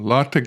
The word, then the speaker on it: LaTeX: Here we see we can also export to a LaTeX document or LaTeX document, depending on how you want to pronounce that, and that's going to be --2 LaTeX.